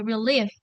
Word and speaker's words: relieved: Jadi id-nya nggak usah dibaca ya. Jadi relieved gitu aja.